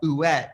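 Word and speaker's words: Huet: Well, I got some from Ouet, and that's how you pronounce it.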